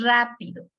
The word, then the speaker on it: rápido: Aquí, por ejemplo, tenemos rápido. ¿Cuántas sílabas tiene? Rápido. Tiene 3 sílabas.